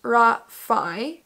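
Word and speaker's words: Raffe: entire book it does say next to it pronounced ra Phi but when you read r-a-f-f-e you don't read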